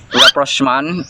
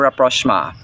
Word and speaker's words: rapprochement: Straight from online dictionaries, this word is pronounced rapprochement or rapprochement.